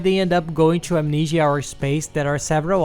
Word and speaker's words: Amnesia: And there's also Amnesia, which is pronounced amnesia in our country.